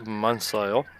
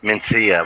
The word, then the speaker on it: Mencia: You got Carlos Mansell. I believe that's how you say it. Mencia, I believe it's actually pronounced.